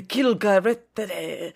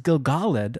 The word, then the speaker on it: Gil-galad: And then when you say it, like, Durin, the Gil-galad, I'm just annoyed.